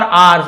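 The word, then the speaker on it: hours: और मशीनों का, फॉर आवर्स, घंटों तक। इसे आवर्स पढ़ेंगे, हावर्स नहीं पढ़ेंगे।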